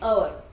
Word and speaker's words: hour: आवर की spelling क्या है, HOUR, राइट. शुरुआत किससे हुई, कॉन्सोनेंट से. बट व्हेन वी प्रोनाउंस तब राइट. एच क्या है, साइलेंट है, इसीलिए एन अवर, राइट.